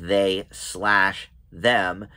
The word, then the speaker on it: They/Them: but i read that the way you pronounce this movie is they slash them and it's a slasher